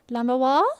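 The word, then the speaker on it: Lamiroir: like Lamiwa, like the second half of Jaguar. I feel like I'm pronouncing it the exact same way though. How what's the correct way to pronounce it? Lamoir.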